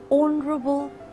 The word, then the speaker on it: honorable: a third example and honorable guests and honorable guests the hedge is almost silent so you use an instead of a I hope that is